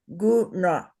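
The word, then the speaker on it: guṇa: Put your tongue straight up on the roof of your mouth into your brain, cerebral, and say guna. Guna. Guna. Guna. Guna. So we know how to say the oo. We make a kissing sound, oo. We know how to say the n, and we know how to say the So it's guna.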